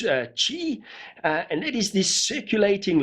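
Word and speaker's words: 氣: it could also be the chinese word k.i pronounced chi and that is this circulating life energy thought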